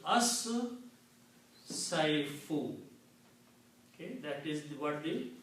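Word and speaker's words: الصيف: Also, sheen and swad both are shamsi letters and they kill the sound of lam and make them pronounced twice with the shadda.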